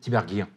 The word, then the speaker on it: Tiberghien: Comment on dit? Tiberghien. Tiberghien. Comme Enghien-les-Bains.